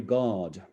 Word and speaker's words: guard: They passed not far from a weary guard. As I was preparing for this discussion, I just realized that this guard, if one doesn't pronounce the post-vocalic R, sounds exactly like God, is a homonym for God.